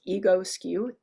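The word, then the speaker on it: Egoscue: massage another one is Agassi you've probably heard me mention it before it's spelled strangely it's spelled like ego skew e-g-o-s cue and it's like Physical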